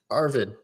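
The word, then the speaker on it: Erwin: Now for Attack on Titan, we could have put the everyone, but instead I picked Levi Squad, Sasha, and Ervin.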